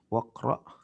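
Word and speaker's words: واقرأ: Waqra dan bacalah ya. Aslinya wa iqra ya. Cuman kalau digabung langsung bacanya jadi menjadi waqra.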